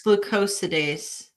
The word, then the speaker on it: glucosidase: I think it's glucosidase. Glucosidase. Okay, alpha glucosidase. Okay, Nicole, are you laughing? Nicole can probably pronounce these words.